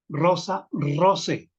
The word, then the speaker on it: rosae: y otra señalamiento más el diptongo ae pronunciese siempre como e esto esto le da